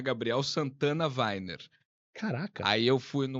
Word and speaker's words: Wainer: Gabriel, como é que É pronuncia seu Zulfilmer? sobrenome? Weiner.